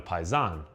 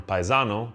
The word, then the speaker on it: paisan: The O was dropped because in many Southern Italian regional languages and dialects, the last vowel is often times not pronounced, especially heavily in the Neapolitan language. So, it went from paisano to paisan.